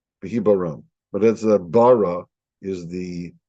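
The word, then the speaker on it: בהבראם: And if I would use English characters to put down the sounds of these Hebrew letters, it would be BHBRM. And the way to pronounce it is Behibaram. Behibaram.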